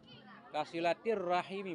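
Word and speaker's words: كصلة الرحم: Kasilatir rahmi, kasilatir rahimi, kasilatir rahimi bacanya.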